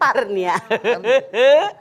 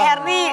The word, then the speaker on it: Herni: Hernia. Rumah sakit. Sok. Herni, bener kan bacanya? Asror, Kamu Asror. sampai Herni? Ditamahin A. Oh, Herni doang. Herni, si Asror A katanya Herni. Itu Balikai mah. Herni tanpa A.